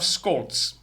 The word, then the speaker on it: Scholz: I'm not sure exactly or precisely how the Germans pronounce it, but Olaf Scholz. No T, but indeed a Z.